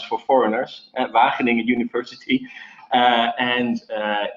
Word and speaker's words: Wageningen: in this university town that is impossible to pronounce for foreigners, Wageningen University, and it's truly an amazing ecosystem. So even though it is a small university town, a lot of big players are now moving towards Wageningen University or to the campus, because we are